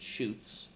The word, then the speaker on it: Schutz: and it's pronounced and this this part is pronounced it shoots I Googled it and